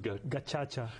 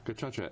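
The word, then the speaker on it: gacaca: genocide right this was it's pronounced gacha gacha and that that those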